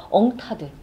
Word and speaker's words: UNCTAD: 여기가 UNCTAD 이렇게 표현하는데 이거를 한국 사람들은 그냥 엉타드 이렇게 발음하더라고요.